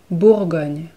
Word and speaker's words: Bourgogne: Bugan Bugan Bugan again the r is really subtle but it needs to be there it needs to be pronounced Bourgogne bull going you it's